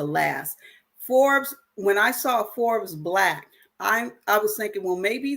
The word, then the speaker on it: Forbes BLK: think about joining, is Forbes Black. So Forbes, like the magazine Forbes Black, but it's spelled Forbes BLK.